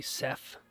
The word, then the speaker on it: Seth: Well, they'll say, for whatever reason, people can't pronounce TH. So they'll say Seth with an F at the end. Or I'll say my name and then they'll be like, what is it? And then they can't figure it out. I'll say, you know the name Beth, like Bethany?